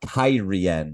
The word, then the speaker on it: Cairhien: to the nation of Cairhien, which, yes, that's apparently how it's pronounced according to the television show.